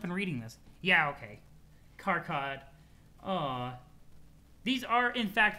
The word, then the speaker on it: Karkat: It seems like the general consensus is Karkat. Okay, gotcha. I can say it however, that's fine, but Karkat's fine. Karkat, like, kind of can kill the flow sometimes. It's a bit of a harder syllable.